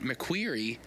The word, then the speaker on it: McCreary: They're McCreary's, or at least it's spelled McCreary, but he pronounced it McQueary, and I've heard a few people pronounce it McQueary after the fact, so I guess maybe I was mispronouncing McQueary the whole time.